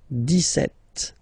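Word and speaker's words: dix-sept: it's clear but then for the pronunciation deset okay so you don't insist on the S deset setet okay then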